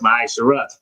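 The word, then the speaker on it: מעשר: It is It means uh tenth in the Hebrew is pronounced ma'aser the priest fund tenth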